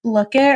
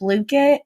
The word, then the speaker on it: Blooket: My classes thrive off of a website called I'm going to say it wrong and I'm sorry, but Blookit or Blookit.